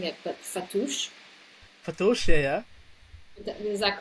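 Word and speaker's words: fattoush: Um, I think I'm mispronouncing it, but fatouche.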